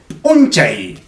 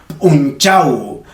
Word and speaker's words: unchay: Se dice unchay. Unchay. Ojo que no lo estoy pronunciando mal, porque en otras regiones lo van a decir unchau. Unchau. Cualquiera de los dos es válido.